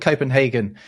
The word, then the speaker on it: København: I mean, it's not called Copenhagen in Danish. It's called Copenhagen, right? It's spelled a bit differently.